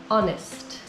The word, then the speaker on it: honest: The H is silent, and so the first sound of the word is a vowel, honest.